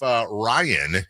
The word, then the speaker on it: Ryan: I want to make sure I'm pronouncing it correctly. Ryan? It is Ryan.